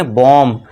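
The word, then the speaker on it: bomb: बी ओ एम बी। तो यहां पे यहां जो देखिए एम के बाद क्या है? बी है। तो यहां पे बी साइलेंट हो जाएगा। और इसे हम क्या पढ़ेंगे? बॉम्ब। बॉम्ब नहीं।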